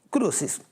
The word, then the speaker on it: Crucis: É assim que se pronuncia, isso, tá certo? Sim. Crucis.